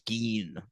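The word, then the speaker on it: Gein: Which is No, no, it's Gene.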